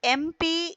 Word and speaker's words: MP: I interviewed an MP in the evening. Now look children an MP because though M is there we are not pronouncing it as ma we are pronouncing it as M.